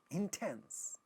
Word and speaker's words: intense: Now, this word intense, intense. The second syllable is getting stressed, and in initial position you have ta, so that is getting aspirated, intense.